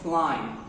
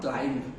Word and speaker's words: climb: He, before pronouncing it, remember the B is silent. So climb, not climbed.